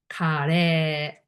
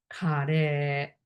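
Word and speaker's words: カレー: You want to order Japanese curry, which is pronunciation is kare, kare, kare.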